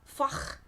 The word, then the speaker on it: Fach: into the German Opera foch system yeah that's a great word it's spelled f-a-c-h and it rhymes with Bach and yeah there's lots